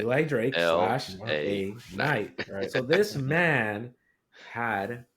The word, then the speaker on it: Eli Drake: it you said it you said it right Eli Drake night so this man had Percy Pringle Paul